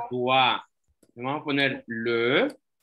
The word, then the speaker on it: doigt: No, le doigt. Le doigt. Se pronuncia doigt.